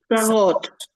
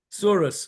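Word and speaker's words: צרות: Sarot. Sarot. How would you say tsarot in Yiddish, Goldie? Surah. Surus. Same word. It's just the Yiddish pronunciation.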